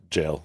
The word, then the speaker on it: gaol: For the record, Gaol it's pronounced jail. It's just it's just jail. Okay, it's the same word.